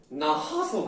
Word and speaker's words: 낳아서: 히읗 탈락은 말 그대로 히읗이 없어지는 걸 말해요. 없어지는 걸 말한다. 자. 이거 발음할 때 여러분 어떻게 해요? 아이를 낳아서 그래? 난 아이를 낳아서 자 아이를 낳아서 기분이 좋아 이렇게 말하는 사람 아무도 없죠.